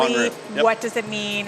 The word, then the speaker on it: Bonrue: Bonrue, yep.